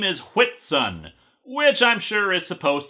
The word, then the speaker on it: Whitsun: His name is Whitsun, which I'm sure is supposed to be pronounced White Sun, because poor literacy is the will of the Force.